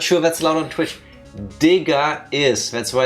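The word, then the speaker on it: Digga: Also, no, there's an A at the end. No R. It is D I G G A.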